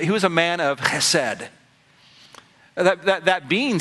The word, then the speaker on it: chesed: Chesed. The first thing I need to teach you is how to say it, okay? So can you say it? Chesed.